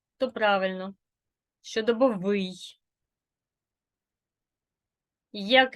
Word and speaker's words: щодобовий: побачимо яка Бука наголошена якщо и то правильно щодобовий як і звук наголошений тисовий якщо О то правильно тисовий якщо ви вимовляєте не так як я значить ви наголошуєте